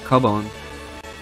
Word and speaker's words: Cubone: Just look at poor old Cubone. It's not a cube. It's a cub.